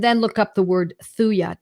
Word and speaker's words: Thuja: But read up homeopathic Materia Medica and then look up the word Thuja, Thuja, Thuja occidentalis. The J is silent.